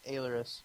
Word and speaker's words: Ailerus: It's actually Ailerus. Ailerus, okay. Yeah, And nobody can pronounce it, so it's cool.